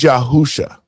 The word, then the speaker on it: Yahusha: It was Yahusha. That's the Hebrew pronunciation of what the Greeks took and turned into Jesus, right?